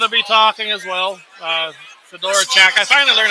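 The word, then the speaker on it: Fedorchak: Fedora Chak. I finally learned how to pronounce her name.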